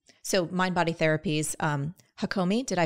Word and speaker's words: Hakomi: the somatic healing so Mind Body Therapies um hakomi did I pronounce that right yes yes talk to us